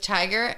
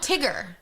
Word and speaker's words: Tigger: She yells back down, "Mom, I'm having a tea party with Tiger and Mum." Oh, if you've never seen Winnie the Oh, Tigger.